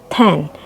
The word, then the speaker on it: ten: seven eight nine ten kalau 10 kita membacanya ten jangan Tin ya kalau kita membaca Tin